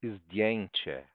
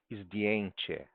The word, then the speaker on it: zdjęcie: To jest zdjęcie. Isto é uma foto. To są zdjęcia. Estas são fotos. Zdjęcia. Zdjęcie. Certo? D, bem pronunciadinho. D. Certo? Ó, DI, o J é um I.